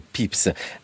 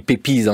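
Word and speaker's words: Pepys: le rôle de Samuel pips ça s'écrit pépise si on voulait prononcer à la française Alan potovski qui est-il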